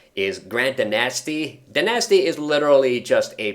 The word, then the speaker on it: Danasty: And I know in the game they pronounce his last name as DaNasty. I refuse to pronounce it that way though.